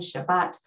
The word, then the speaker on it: Shabbat: the word shabbat right when pronounced with a sephardic pronunciation and we have that t sound at the end shabbat with a more yiddish or ashkenazi inflection um it would be shabbos with an s on the end right so as this stylist